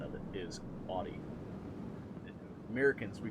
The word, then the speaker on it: Audi: Yeah, that's actually the true pronunciation of it, is Audi. Americans, we call it Audi, but it's actually Audi.